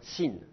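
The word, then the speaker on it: שׂין: vous le trouvez alors aujourd'hui on le pronce comme un S sin le il faut le proncer S comme le samère dans la prononciation moderne si vous allez aujourd'hui en Israël la prononciation moderne c'est un S on ne distingue pas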